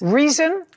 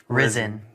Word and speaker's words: Rizin: Reason? Risen. Risen. Spell it. RIZIN space athletics.